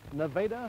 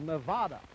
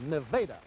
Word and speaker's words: Nevada: You notice we call it Nevada here in Iowa. The name of the state out west is called Nevada. That's a Spanish name. Well, here in Iowa, we say Nevada. Nevada, spelled the same way.